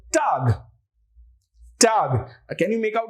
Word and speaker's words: Tag: Now day in German is called Tag.